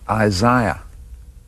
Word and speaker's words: Isaiah: rewriting exercise the name the correct way to pronounce this name is Isaiah and it was a